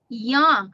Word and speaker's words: young: confused and it's a short vowel u sound remember for the short u sound is o o yang it's not u it's